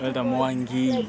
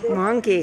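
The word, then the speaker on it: Mwangi: her okay Elder M what is your nameer mongi mongi how do you spell that m w a n g i or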